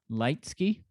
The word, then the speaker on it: Leitzke: that your name uh your last name is pronounced leitzky because uh you are truly a a light you know you have